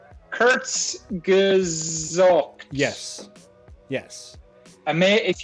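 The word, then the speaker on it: Kurzgesagt: that what it means so it's okay it's pronounced Kurt's gazook yes yes I mean if you like science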